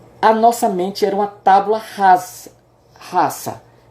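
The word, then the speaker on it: tabula rasa: De acordo com John Locke, a nossa mente era uma tábula rasa. Em latim, o S ele tem a pronúncia de S, não tem Z. Né? É tábula rasa, né?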